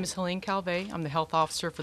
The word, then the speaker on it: Helene Calvet: beach thank you dr fielding my name is helene calvey i'm the health officer for the city of long beach my name is spelled h-e-l-e-n-e c-a-l-v-e-t the long beach department of